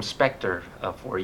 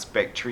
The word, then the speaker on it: Spectre: were reviewing the film spectre-4 you care that I said it right yes you did it is Spectre it does not spectra is not spectra it is Spectre good job Thank You